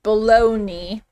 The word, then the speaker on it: bologna: to live in 2018 it's pronounced baloney and it's popular here